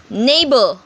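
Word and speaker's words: neighbour: Neighbor, slight, dough, way. Over here, you can see GH is silent in each word.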